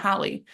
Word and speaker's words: Hallie: like she also will mispronounce her name in every video. Sophia, she'll say Haley, not Hallie.